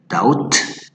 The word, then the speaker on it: doubt: okay, calm, limb, thumb, they don't sound like doubt or debt, like when you pronounce it deuda, many people say debut and they pronounce the B, no, it's debt.